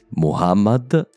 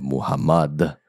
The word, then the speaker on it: Muhammad: La prima è proprio il nome più comune di tutti, Muhammad e non Muhammad. A quanto pare ho preso la pronuncia francofona del suo nome, scusate.